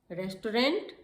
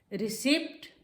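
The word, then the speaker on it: receipt: प्रोनाउंसिएशन, प्रोनंसिएशन। Bowl, बोल। Vegetable, vegetable. Photographer, photographer. Jewellery, jewellery. Hotel, hotel. Restaurant, restaurant.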